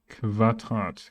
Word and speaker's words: Quadrat: So you will say Quadrat, Quadrat, instead of Quadrat. Qua is wrong, but Quadrat.